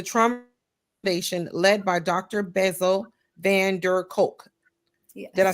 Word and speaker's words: Bessel van der Kolk: Bessel Van Der Kolk.